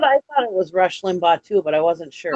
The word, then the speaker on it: Limbaugh: Rush Limburg, Lumberg? Is that how you pronounce his name, Limburg? But I thought it was Rush Limbaugh too, but I wasn't sure.